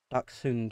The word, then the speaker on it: Dachshund: Dachshund would be the German pronunciation.